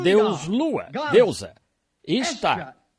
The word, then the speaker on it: Ishtar: E então, ele tinha uma esposa, o deus Lua, deusa, Ishtar, I-S-H-T-A-R, Ishtar, e também se pronuncia A-S-T-A-R-T-E, Astarte.